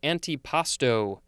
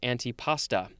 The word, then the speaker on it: antipasto: anti-matter is made of next we have antipasto a-n-t-i-p-a it's not anti-pasta uh this is a